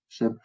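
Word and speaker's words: šm: Donc, c'est comme si tu écrivais Shem avec deux M, mais ce deuxième-là ne se prononce pas. Shem.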